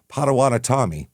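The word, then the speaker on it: Potawatomi: In the 1700s, the areas were were occupied by the Padawanatami, as we found out. That's how it's pronounced after the bottom of the M.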